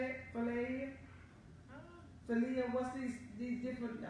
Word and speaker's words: philia: Philia? Philia, what's these different names of love they have? Y'all know, y'all just, in other words, that's self-love. It's called, it's P-H-I-L-I-A. Oh, philia. Thank you.